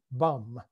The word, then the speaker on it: bomb: almost immediately christened the prince regent's bomb pronounced bum and napoleonic memorabilia for